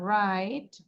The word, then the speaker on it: wrong: ডাব্লিউ উচ্চারণ করব না রাইট রং WRONG আমরা কিন্তু ডাব্লিউ এর উচ্চারণটা করি না রিস্ট এই যে ডাব্লিউ